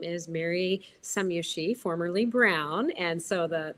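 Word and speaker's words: Scomjassy: actually spelled s-c-o-m-j-a-s-s-y and we pronounce it some Yoshi like some you see and some you don't it was a very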